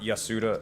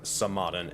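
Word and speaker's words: Tsamadan: that real quick so not yasuda samadan and i will spell that for you that is t s a m um but regardless the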